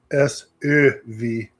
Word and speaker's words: SÖV: It's SÖV. You have to really pronounce the umlaut.